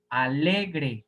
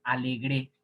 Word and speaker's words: alegre: imagen grave joven grave alegre grave si fuera aguda se pronuncian diría alegre sí que sería dependiendo del contexto no me alegré ahí sí sería aguda y debería de llevar tilde alegre es grave aquí en este caso